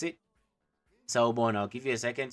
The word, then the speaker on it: Sawubona: Our first lesson was Sawubona, which means hello in English, and how you pronounce it, Sawubona.